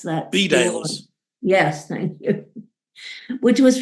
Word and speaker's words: Bedales: Is that how you pronounce that? Bedales.